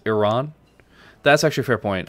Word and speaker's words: Iran: It's not pronounced Iran, it's pronounced Iran.